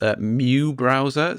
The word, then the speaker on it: µBrowser: It's called, it's actually pronounced µBrowser.